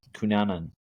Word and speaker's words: Kunanan: Don't know how to say his last name, but it's cu nan. Kunanan.